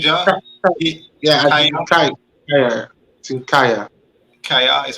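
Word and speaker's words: Kjær: Kaya is how you pronounce it.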